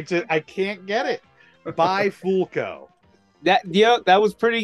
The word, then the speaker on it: Bifulco: joke because I just I can't get it by folco that yeah that was pretty good I'll give